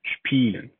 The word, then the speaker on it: spielen: spielen.